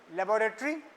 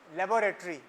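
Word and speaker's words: laboratory: word देख रहे हो यूके इंग्लिश में लेबोरेटरी यह तो ठीक है तुमको पता ही है लेबोरेटरी अमेरिकन में हो लेबोरेटरी लबरेट इसका प्रोनंसिएशन इस वर्ड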